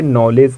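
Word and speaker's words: knowledge: क्या आप जानते हो यहां भी जिसे पहले वाला जो दी है वो क्या है साइलेंट है इसे इसीलिए आप लोग इसे नॉलेज कहते हो क्या कहते हो नॉलेज ये जी से पहले वाला दी ऑलवेज साइलेंट होता है आई हम लोग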